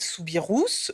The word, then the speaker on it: Soubirous: Sainte Bernadette ou Bernadette souirous oui on prononce bien le S et oui par à